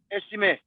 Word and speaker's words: Estime: Am I pronouncing it right? Like Estime? Estime.